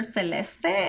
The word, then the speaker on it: Celeste: And tell me, why are people so upset the the way I say her name? I have so many people mad. like she's Latina. Her mom speaks, you know, her first language is Spanish, so it's like normal to call her Celestee instead of Celeste.